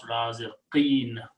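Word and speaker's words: رازقين: And if it is a plural, then waw changes to a ya. And you pronounce raziqeen.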